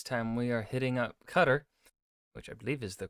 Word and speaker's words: Qatar: to say it though most of my life I have gone saying it Qatar but I am trying to be better because everyone online pronounces it cutter so that's how I'm going to try and pronounce it throughout this episode I might slip up